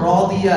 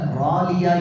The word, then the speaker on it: راضية: ராதியால ராலியா இல்ல. நிறைய பேர் ராலியான்னு ஓதிடுவாங்க. ஏன்னா சாதுக்கு அடுத்து புள்ளி வைக்கிற அந்த தாது வருது.